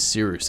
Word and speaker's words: Cyrus: So without further ado, my name is Siruse. It's spelled like Cyrus, but it's like s rooster.